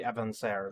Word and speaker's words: Avancer: is the Evan avaner is that pronounce it advancer it's probably avaner because it's French five shots on a